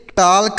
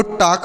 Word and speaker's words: talk: तो देखिए अगर किसी भी शब्द में यल और के, यल और के एक साथ लिखे हों तो यह जो यल लिखा गया है यह साइलेंट होता है, मतलब हम उसे नहीं पढ़ते हैं, उसका उच्चारण नहीं करते हैं।